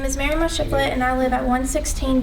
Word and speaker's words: Maryemma Shiflett: Maryemma Shiflett, did I pronounce that right? Yes, sir. Hello, my name is Maryemma Shiflett, and I live at 116 Dusty's Road.